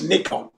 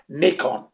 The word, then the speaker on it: Nikon: pronunciation is it's it's nikon that's how you pronounce it because it's japanese product and the pronunciation is knee nippon nihon nikon not nikon okay so it's a